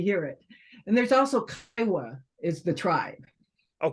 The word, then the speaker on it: Kiowa: how I usually hear it and there's also kaiwa is the tribe oh kyowa gotcha very good very good excellent yes and